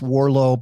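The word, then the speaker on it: Warrillow: And uh it it's pronounced Warllo, but it looks like Warillo.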